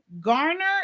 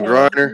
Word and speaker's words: Griner: And then I'm going to look into the Brittany Garner. Is that what you said? Oh, Griner.